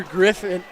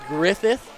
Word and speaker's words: Griffith: I've been calling her Griffin. Griffin all night, but it's Griffith.